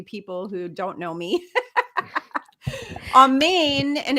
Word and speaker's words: amen: the amen is a psyop um it's not almond raw okay so I read write and speak Hebrew for all of you people who don't know me on Main and it's pronounced on Main when you're saying